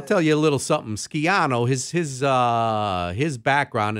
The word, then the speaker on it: Schiano: me say one thing the correct Italian pronunciation of uh that name was skiano is that how we're supposed